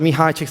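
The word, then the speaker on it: Csikszentmihalyi: question and they said my name is pronounced Mihi chick. That's actually the correct way to pronounce it.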